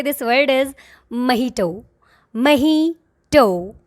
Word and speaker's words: mojito: Mojito.